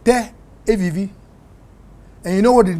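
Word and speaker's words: תל אביב: I mean, if you say something like Tel Aviv, you know Tel Aviv? I know Tel Aviv. Yeah, in Israel. In Hebrew, it's pronounced Teh Aviv.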